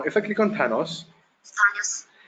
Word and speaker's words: Thanos: Now if I click on Thanos, Thanos, it speaks out the word wrongly. The actual pronunciation is Thanos. It is not Thanos.